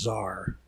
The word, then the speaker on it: Xa'ar: and shadow world is known as tsar spelled with an axe lord gallus controls the